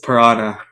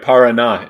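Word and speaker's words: Paraná: the marathon hernand daras piranha I don't know if I pronounced it right you got that 90% right Parana is the river in Argentina and I've actually been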